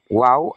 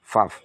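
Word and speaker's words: וָו: Yang Alef, Bet, Gimel, Dalet, He, Waw, atau Vav. Kalau cara bacanya, Vav.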